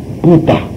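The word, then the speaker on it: 佛陀: 근데 붓다인데 중국 사람들이 지금 우리가 쓰는 불타라고 썼는데 중국 발음은 뿌따입니다. 뿌따. 중국 사람들 보고 이 불자를 읽으라 그러면 뿌따라고 읽어요. 그러니까 맞죠?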